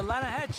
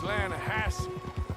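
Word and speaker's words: Lannahechee: no no no no the the lah hat it runs right near here yeah but it's pronounced lanahassee why is everything in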